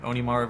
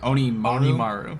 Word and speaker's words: Onimaru: Onimaru versus Setsuki.